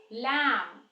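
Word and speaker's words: lamb: वाला ही है moon लम अब यहां पे बी साइलेंट है यानी ब साउंड साइलेंट है तो लम म प खत्म हो जाएगा ऐसे ही कोम ऐसे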